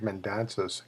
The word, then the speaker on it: Mendonsa: never got to do that was there George Mendonsa girlfriend and then future wife and by the way that's how you pronounce amend danza was in the background that